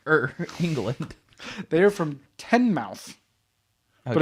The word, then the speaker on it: Teignmouth: They are from Teignmouth, but it's spelled Teignmouth. Teignmouth in Devon, the county of Devon, and in England.